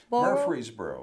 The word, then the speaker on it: Murfreesboro: I have to pronounce the name of the town where Bill was from. It is Murfreesboro. Murfreesboro.